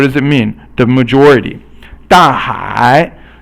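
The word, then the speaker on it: 大海: 大海 means fourth tone and then third tone, and 海 is the ocean, but 大 means big, so 大海 is the big ocean.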